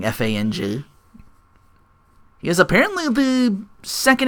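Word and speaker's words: F.A.N.G: We finally get to reveal for Fong, as they pronounce it. It's it's an acronym, so it stands for something. FANG.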